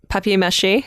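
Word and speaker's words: papier-mâché: arms tied together with fishing string in arms papier-mache okay yeah that's how it's pronounced okay sure and I want to push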